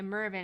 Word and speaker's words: Mervyn: stay blue unfortunately um Mervin okay Mervyn is how you pronounce that that's so weird